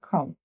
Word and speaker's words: crumb: So first thing, silent B, such as crumb, bread, crumb.